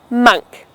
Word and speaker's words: monk: Have you read the book, The Monk Who Sold His Ferrari? This word is pronounced as monk. You don't want anyone to catch you saying monk. It is monk.